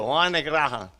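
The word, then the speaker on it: Graham: the way they pronounced it in in Cuba Wan can you spell it for me please w y n e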